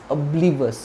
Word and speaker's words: oblivious: आगे बढ़ते हैं, अब्लीवस, अब्लीवस या अब्लीवियस, इट्स नॉट ऑ, so don't pronounce this word with the starting sound as o, it's oblivious। क्या बोलेगे आप, oblivious।